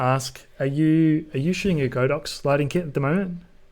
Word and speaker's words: Godox: I was going to ask, are you shooting a Godox lighting kit at the moment?